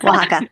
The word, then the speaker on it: Oaxaca: You talk about the indigenous women in Oaxaca. Did I pronounce that right? Yes, Oaxaca.